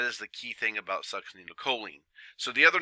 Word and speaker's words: succinylcholine: And that is the key thing about succinylcholine. So the other names are nectine or quelchin. Nectine is the one that you're probably going to see a lot more of. And it is pronounced succinylchlorine.